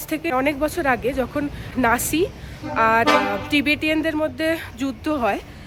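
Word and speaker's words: Naxi: এনাদের যারা এখানের লোকাল তাদেরকে নাক্সি বলা হয়, কারণ একটা এক্স আছে, তো আমি ওটা ভুল প্রোনাউন্স করেছিলাম। আমি এনার থেকে জানলাম সেটাকে বলা হয় নাসি।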